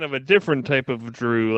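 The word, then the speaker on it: Jrue: normal white boy named drew oh no you you're you're thinking of a different type of drew like dr ew this is j-r-u-e you know what though makes the same sound so it does like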